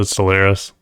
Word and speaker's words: Stellaris: That's how you pronounce it, Stellaris.